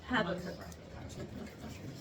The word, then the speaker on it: Habakkuk: Had to cook. Habakkuk. I always thought it was exactly.